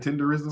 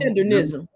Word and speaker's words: Tendernism: That's how you say it, Tenderism? Tendernism. Yeah.